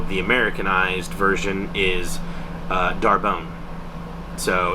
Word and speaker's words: D'Arbonne: to pronounce it and she says oh it's it's darbone now I'm gonna put right here how it's spelled D apostrophe a-r-b-o-n-n-e which makes you think it's like it's very French uh and she was